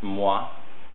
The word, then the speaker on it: moi: the end and l if you have an o followed by an i it makes a wah sound you have moi you have twas um